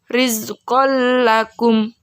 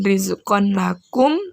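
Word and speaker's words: رِزْقًا لَكُمْ: contoh berikutnya rizqal lakum rizqal lakum yuk bukan rizqon Bakung atau rhizopon kagum sini tidak boleh dengung dan tangguhnya tidak boleh terbaca lagi tapi sudah lembur ke huruf lam rizqal lakum mugur ulangi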